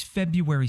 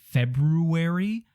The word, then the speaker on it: February: you up in a spelling bee how is February supposed to be pronounced is it February or is it just February why is this